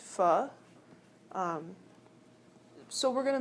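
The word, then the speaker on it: pho: really yummy right um it's spelled pH pronounced f um so we're going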